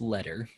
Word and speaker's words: Leader: I unfriended Benjamin Leader back when all of that happened with In fairness to Benjamin, it is pronounced letter.